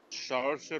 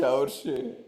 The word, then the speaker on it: Saoirse: Saoirse Ronan. Saoirse Ronan is correct. This is Saoirse Congrats on Ronan. the pronunciation as well, Dada.